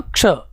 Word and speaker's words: क्ष: प्रभाव पड़ता है, इसलिए कोई इसको छ पढ़ता है, कोई इसको क्ष पढ़ता है। तो इसका सही उच्चारण होगा क्ष, जिसमें पहले क और उसके बाद स, तो उच्चारण इसका क्या हो जाएगा, क्ष।